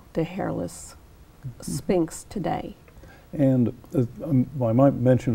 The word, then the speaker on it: Sphynx: about a sphinx cat it's spelled SP y NX not SP I NX as most people will spell the word Sphinx so you have to